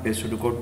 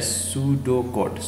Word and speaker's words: pseudocode: Topic है वो अपना पेसुडोकोड। पेसुडोकोड क्या होता है, किस तरीके से इसको हम लिखते हैं। तो ए पेसुडोकोड इसका जो प्रोनाउंसिएशन है सूडोकोड।